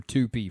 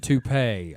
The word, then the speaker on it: toupee: of like me seeing Horst of Ors or Tupi for the first time. Yeah. Well, wait. Can you pronounce that again? How did you pronounce that? Resiliency. No. Kevin. Horst of Ors, and Tupi. Hors d'oeuvres and toupee.